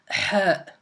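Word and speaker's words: ح: Donc, comme on a dit, donc c'est exactement comme Harf al-Jim. Par contre, il n'y a pas de point, aucun point, ni au-dessous ni au-dessus de la lettre. Voilà. Donc, je répète, ça se prononce Ha.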